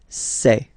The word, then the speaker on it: ces: then set here and for the plural say say really open this e e say Okay so let's